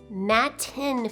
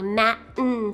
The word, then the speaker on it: Matten: i'm pronouncing it right i'm saying matt 10 filters i think a lot of people say matin filters like you don't even say the t you say matin kind of like you